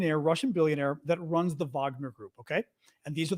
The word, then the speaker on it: Wagner: Right, because Bakhmut is the town that they just these Wagner Group, Wagner, but they pronounce it in Russian Wagner, so it's the name that's used internationally.